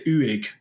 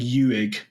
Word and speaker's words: Uig: Uig. I've been saying Uig. Uig. I've just said it wrong for years, and I'm like, have I say that wrong?